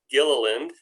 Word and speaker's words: Gilliland: Name is Gilliland. There's a hard G on the front end of that.